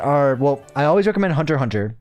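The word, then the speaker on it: Hunter × Hunter: Um, a few of my favorite animes are well, I always recommend Hunter Hunter. It's um Hunter X Hunter, but you don't pronounce the X.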